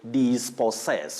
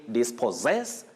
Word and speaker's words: dispossess: says this paul says many people say this post says some even say this possess which is wrong you say this possess dispossessed and dispossession that is